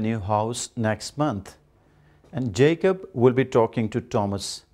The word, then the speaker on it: Jacob: is usually mispronounced in our social context we pronounce it Jacob that is in Udu yakob but in English it should be Jacob and Thomas is usually pronounced as Thomas it